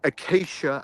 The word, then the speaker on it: Acacia: It's Acacia Avenue.